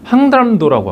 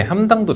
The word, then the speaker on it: 항담도: 그래서 이걸 뭐라 그러냐면 항담도라고 하거든요. 발음 잘 하셔야 돼요. 항담도. 자, 따라해 볼까요? 안 할게요. 자, 항담도인데 함담도 잘 보세요.